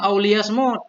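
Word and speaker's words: لِيَصْمُتْ: Qauluhu auliyasmut, atau hendak diam ia bifathil ya'i, bacanya dengan fathah ya, lias, wa dhammil mim, dengan dhammah mim.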